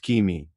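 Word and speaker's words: Cimi: The Mayans call the next glyph white simi pronounced kimi.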